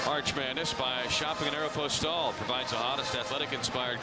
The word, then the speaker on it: Aeropostale: If you're looking for this season's hottest styles, hey, get ready for the uh Arch Madness by shopping at Aeropostale.